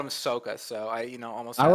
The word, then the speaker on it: Sokka: how do you pronounce his name then? Sokka.